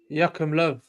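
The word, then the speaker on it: Joachim Löw: Is it Joachim Low? Joachim Low.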